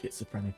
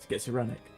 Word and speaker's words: schizophrenic: I think Doge is pretty much schizophrenic at this point. This is the most nons I don't know how to say the word. Schizoperic.